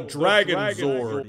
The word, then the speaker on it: Dragonzord: right now behold the Dragon Sword you gotta say it like Zordon right but he's pretty darn